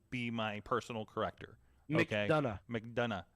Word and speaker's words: McDonough: McDonough. JD McDonough. It's like Triple H saying done.